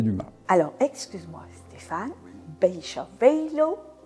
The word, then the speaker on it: Beychevelle: Alors, excuse-moi Stéphane, Bécha velo, parce que le A se prononce O en gascon.